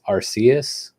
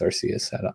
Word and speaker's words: Arceus: the works right now called pokemon legends arceus i think is how you say it or arceus i think it's arceus i don't know sue me um uh but it's